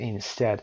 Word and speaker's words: instead: instead دوستان بعضیا استرس قسمت اول میذارن که اشتباه هست.